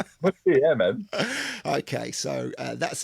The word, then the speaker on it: Mousse T: and it's produced Mousse T. If you pronounce it really short like Mousse T, it's perfect.